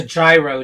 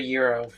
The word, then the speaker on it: gyro: give this a shot it's a gyro not a Euro oh have you had